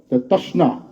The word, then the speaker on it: তশ্না: আসলে আমরা আগে লিখতাম ত, তালিবাস্বয়ের দেশ দিয়ে, তারপরে তয়ের সাথে শকে, তার সাথে শিনকে অ্যাডজাস্ট করে না, নার পরে আলিফ আছে, তৃষ্ণা। হ্যাঁ, এটাকে এইভাবে উচ্চারণ করতে হয়।